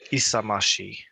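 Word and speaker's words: 勇ましい: If you That one word is apparently isamashi.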